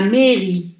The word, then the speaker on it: mairie: Il y a deux syllabes dans ce mot. كاين زوج مقاطع في هذه الكلمة. Mais c'est la première syllabe. Ri la deuxième syllabe.